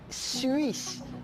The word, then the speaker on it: Suisse: UI se pronuncia, se donne le son I. Par lo tanto, je dis Suisse. Je dis nuit et je dis fuit.